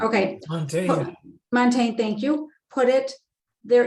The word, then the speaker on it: Montaigne: michalde michelle day i don't know how to pronounce okay montaigne thank you put it there is as much